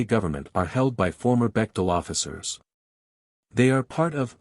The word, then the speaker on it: Bechtel: Bechtel, pronounced Bechtel, a San Francisco-based organization, Branton, is a super-secret international corporate octopus, founded in 1898.